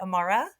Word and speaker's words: Amara: And is that organization, is it Amara?